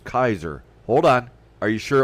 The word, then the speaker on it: Caesar: the Latin speakers well it wasn't pronounced Caesar it was pronounced Kaiser hold on are you sure it wasn't pronounced keer how do we know